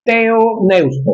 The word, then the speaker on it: Theopneustos: Inspiración bajo el término teoneusto. Se escribe Theopneustos. Teoneustos.